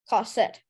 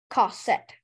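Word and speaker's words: cossette: Cassette. May I have all the information again, please? Yes. Cassette is a noun. The other pronunciations are cassette or cassette.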